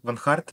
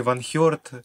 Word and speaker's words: øneheart: Правильно произносить вообще Ван Харт, псевдоним? Ну, тут уже кто как хочет. То есть можно и Ван Хёрт, Ван Херт, это как кому угодно.